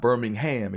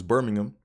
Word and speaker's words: Birmingham: Right, it's not Birmingham, it's Birmingham. Learned that the hard way over in the UK.